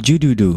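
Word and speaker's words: الجُدُدُ: Jadidu, jadudu atau jududu, itu bacanya bagaimana itu? Oh iya. Aina tulabul jududu. Iya, betul.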